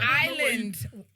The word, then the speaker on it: Ireland: Ireland. It's Ireland. Ireland. Pronounce the R. Ireland. Island.